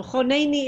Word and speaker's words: חונני: So choneni is a good example of that also, where the kamatz katan is pronounced with the oh sound.